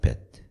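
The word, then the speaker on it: ב: 자, 히브리어 발음으로는 저 단어가 베트입니다. 베트.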